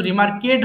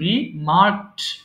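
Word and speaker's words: remark: বলো রিমার্ক রিমার্কড রিমার্ক এটা কিন্তু রিমার্কেট হবে না উচ্চারণটা খেয়াল করো হবে কি রিমার্ক এরপর বল সেট স্থাপন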